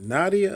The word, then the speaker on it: Nadia: pronounce wrong naming correct is it Nadia uh yeah it's like Madea yeah it's not Bible